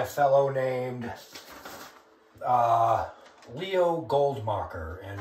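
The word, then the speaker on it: Goldmakher: one is by a fellow named uh Leo goldmocker and it's spelled l-e-o g-o-l-d-m-a-k-h-e-r and it's a paper titled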